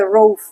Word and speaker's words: Roaff: Sí, que en realidad se pronuncia Roaf. Roaf. Así. Ajá.